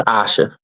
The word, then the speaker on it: Asha: if you are um that's not Aisha that's Asha Asha I'm sorry thank you